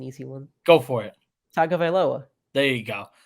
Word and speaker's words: Tagovailoa: It's Tua Tagovailoa.